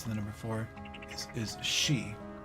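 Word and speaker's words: 四: the number four is she which is also how you pronounce the word for death or dying so you'll notice that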